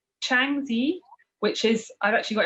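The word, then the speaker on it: Shanxi: of dragon uh sculptures yeah so it's it's changi which is i've actually got it written down because i think my pronunciation is probably not great it's uh s-h-a-n-x-i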